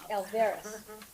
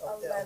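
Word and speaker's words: Alevras: Alvarez. It's Alevres. Alevres. It's How do you say it? L-A-V. Did I say it wrong? It's Alevres. Alvarez. A-L-E-V-R-A-S. So it switched that. The middle A.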